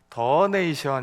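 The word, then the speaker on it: donation: 그랬더니 건 시장님이 그러셨어요 돈네 쇼의 도네이션은 영국식 발음이고 미국식 발음은 더네이션 이렇게 발언해야 된대요 그래서 그게 더 내래요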